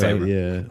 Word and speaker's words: Favreau: John I think Favreau, Favreau. yeah. that's how you pronounce it.